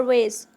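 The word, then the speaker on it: vase: फूल गुलदस्ता को हम इंग्लिश में कहते हैं फ्लावर वेज। बहुत से लोग इसे फ्लावर वाज भी पढ़ते हैं, तो ये दोनों वर्ड करेक्ट हैं। इसको हम फ्लावर वाज भी पढ़ सकते हैं और फ्लावर वेज भी पढ़ सकते हैं।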